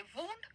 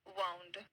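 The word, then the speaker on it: wound: यही है ठीक है जब स्पेलिंग का मतलब होगा चोट तो इस इसी को हम कहेंगे वंड और जब इसका मतलब होता है इसे लपेटना ठीक है तो हम इसको कहेंगे वाउंड दोनों भी वर्ड्स वन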